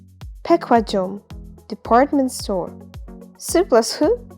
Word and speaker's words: 백화점: ku plus hu is going to be pronounced as ku, 백화점, department store.